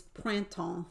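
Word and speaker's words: printemps: is about the same length but spring is pranton it's p-r-i-n-t-m-p-s t-e-m-p-s p-r-i-n-t-e-m-p-s so that's a lot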